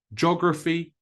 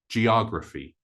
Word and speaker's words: geography: to begin with but the O is stressed not the gra so geography or geography the next one is